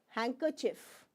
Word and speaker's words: handkerchief: handkerchief M handkerchief no you do not speak D hanker hanker handkerchief is that clear you